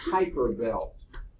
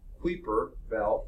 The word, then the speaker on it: Kuiper Belt: heard out several ways I think it's pronounced Piper Belt the parts of people call it creeper belt but I think I